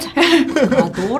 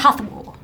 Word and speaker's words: Hathor: It's not Hador, it's Hathor. Hathor.